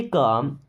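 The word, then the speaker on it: calm: Stay काम, stay means रहो, काम यहाँ पे एल साइलेंट है ना, स्टे काम मीन्स शांत रहो, स्टे काम शांत रहो।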